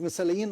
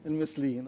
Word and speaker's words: المثليين: طبعا لما بقول كلمة مثاليين أقصد الهوموسيكشوال، يعني ده المثالية اللي اسمها كده باللغة العربية، المثليين. طيب صلحوها لي أنا نطقتها غلط، المثليين.